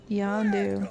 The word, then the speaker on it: Yondu: I thought that was Yondu. Oh, Yondu? Yeah, maybe that's what... No, you're right. I had it right the first time. I thought it was Ronin. No, it's Yondu.